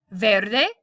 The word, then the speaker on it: verde: the apples are red verde or better they depending if you pronounce the V like a b el árbol s Verde